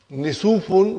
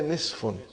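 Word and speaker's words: نصف: Instead of saying, brother and sister, instead of saying Nisufun, we say Nisfun.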